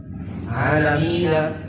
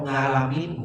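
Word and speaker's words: العالمين: Tapi kalau ngalamin bukan qiraat. Tapi kalau ngalamin bukan qiraat. Itu bacanya berarti dia apa? Nggak belajar, karena nggak belajar. Jadi alamin dibaca ngalamin.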